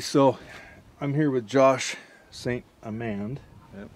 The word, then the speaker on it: St. Amand: So I'm here with Josh St. Amand.